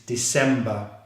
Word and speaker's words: December: So this is the 12th month, which is December. Again, December is a 3-syllable word with the stress on the second syllable.